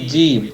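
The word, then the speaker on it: جيم: এই অক্ষরটার নাম হচ্ছে জিম এটা বলার সময় আমার গায়ে যত শক্তি আছে সমস্ত শক্তি দিয়ে এটাকে জোরে আঁকে ধরতে হবে তারপর বলতে হবে জিম জিম একটু মোটা করতে হবে জিম জিম মাশাল্লাহ একটু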